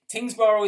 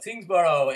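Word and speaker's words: Tyngsborough: I joked in the queue off air how sometimes Tingsboro is spelled differently, and the formal Tingsboro has UGH at the end. What's up with UG? It's obviously silent.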